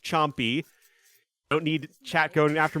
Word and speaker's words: Champi: And yes, chat, it is pronounced Chompy. Don't need chat going after my pronunciations again. It comes from the Inca word for mace, or the Quechua word to be specific.